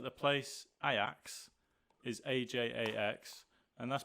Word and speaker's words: Ajax: said but like for instance like the place i axe is ajax and that's pronounced iax ev right i don't know what you which